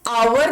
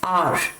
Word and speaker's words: our: इसको आवर नहीं प्रोनाउंस करेंगे, इसे कहा जाता है आर। क्या कहते हैं इसे? आर कहते हैं, आवर नहीं कहेंगे। आवर इज नॉट the correct pronunciation, it is pronounced as आर।